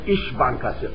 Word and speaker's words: İş Bankası: We have İş Bankası, I-S, but a little like S is pronounced like S-H.